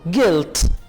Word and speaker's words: Geld: Das ist Geld। This is money। Geld कहेंगे money को और D को आप T प्रोनाउंस करेंगे।